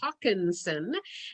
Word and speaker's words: Haakonson: I am Haakonson, and why Jeanette can't figure out how to pronounce it is spelled H-A-A-K. There's no W there.